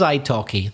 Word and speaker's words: italki: about our wonderful sponsor, italki. Italki, well, what is Italki, Reza? Italki is the name of a company with a silent L in the middle. Talk has a silent L, so does italki.